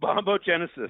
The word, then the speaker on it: bombogenesis: Bombogenesis. Is that how you say it? Bombogenesis.